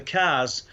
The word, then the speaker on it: Carrs: And it's the cars, it's spelt CARRS, and it's an ancient lake bed, Flixton Star car.